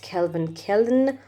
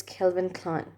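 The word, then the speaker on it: Calvin Klein: an american brand and it's not kelvin killen or something else it's kelvin klein kelvin klein kelvin klein so guys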